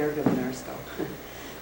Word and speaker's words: Gergebunarsko: Really not the right name because it's not, in Bulgarian it would be Gergebunarsko.